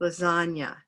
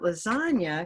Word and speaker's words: lasagna: thing I’ll say about lasagna, because we haven’t spent much time on it, is just to remember that the G is silent—there’s no need to say a hard G sound there: Lasagna And also, there’s